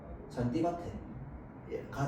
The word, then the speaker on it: 잔디밭에: 자, 그 다음에 얘는 어떻게 되는데 잔디 바 태가 됩니다. 잔디 바 태가 돼야 됩니다.